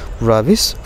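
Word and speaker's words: Rabi: Is mister Zahir Ali রাবিস father. এখানে রবির বাবা। তো আমরা এখানে রবিও বলতে পারি কিংবা রাবিও বলতে পারি। রবি ইজ দ্য অ্যাকুরেট প্রোনাউন্সিয়েশন।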